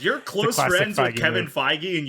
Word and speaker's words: Feige: close friends with kevin feige and you still don't pronounce his last name right what's with you in that soft g only his close friends